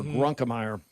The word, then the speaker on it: Grunkemeyer: And first of all, Grunkemeyer, add a syllable in there, Grunkemeyer. And the thing I think you get right away, well, first of all, that pass should have been caught.